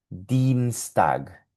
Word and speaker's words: Dienstag: E y la I con la E suena Dienstag, Dienstag, Dienstag.